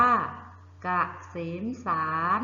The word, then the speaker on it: เกษมศานต์: ได้ อย่าง ไร เอ่ย อ่าน ว่า เกษมศานต์ นะ คะ เกษมศานต์ ตัว การ้าน คือ ตัว ไหน เอ่ย กลัว ต่อ เต่า นะ คะ คำ ต่อ ไป